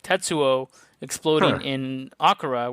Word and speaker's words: Akira: like tetsuo exploding in akara which is mispronounced akira for like 25 years in the united states whatever but anyway um